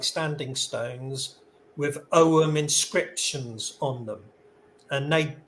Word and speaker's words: Ogham: with the pronunciation um the g is silent like a garden gnome so forget the G it's just om okay thank so bit